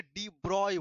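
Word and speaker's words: de Broglie: এবার এইখানে চলে আসলো আর এক পণ্ডিত, নাম হচ্ছে ডি ব্রগলি। ডি ব্রগলি, অনেকে এটাকে ডি ব্রয় বলে। কি বলে বলতো? ডি ব্রয়, ঠিক আছে উচ্চারণটা।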